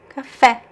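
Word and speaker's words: café: And then here we have a graphic accent. So what happens? The stress goes to that syllable, right? Cafe. Cafe. Cafe.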